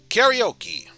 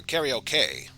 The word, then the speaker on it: karaoke: of words like tsunami karaoke or karaoke i should say sensei etc etc ramaji